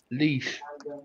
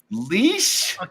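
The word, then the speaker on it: Laois: No, that is pronounced leash. Leash? Oh, jeepers. What the hell? Wow. I can't see it clear enough even when it's in blinking enlarged, unfortunately. So you pronounce that leash?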